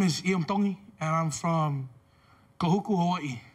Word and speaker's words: Tongi: My name is Iam Tongi, and I'm from Kahuku, Hawaii. Iam Tongi. Tongi. You pronounce the T's like a D in the Tongan culture.